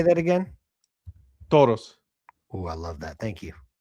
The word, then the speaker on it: Toros: Toros.